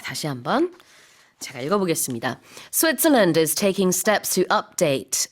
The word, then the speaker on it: Switzerland: 그리고 이제 또 스위스라고 우리 하지만 영어로는 Switzerland. Yeah, so the land is not emphasized.